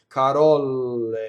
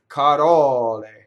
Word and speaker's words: carole: If you can feel phonation on the L, you're doubling the L. Carole, wrong, right? Carole.